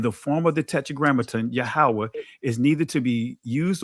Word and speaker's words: Yahawah: I'm saying Yahawah because that's how it's pronounced or Adon is to be translated Lord and the form God.